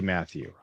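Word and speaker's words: Mathieu: So, his his name is Matthew, but it's like the fancy Matthew.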